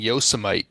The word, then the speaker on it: Yosemite: Yosemite is okay. the correct pronunciation.